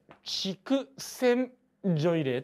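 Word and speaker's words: 蓄銭叙位令: は原名天皇ですこれ地線女霊と発音します銭を蓄えるば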